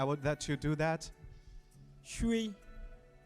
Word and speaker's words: 水: 水. 水. 水. 水. Listen to Wusani, she did the right tone. Everybody say it with me. 水. You go down and then rise a little bit. 水.